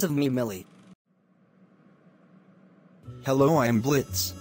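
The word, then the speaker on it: Blitzø: me millie hello i'm blitz the o is silent and i am the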